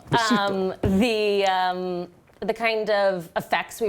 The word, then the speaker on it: Besito: Besito. Besito. Besito.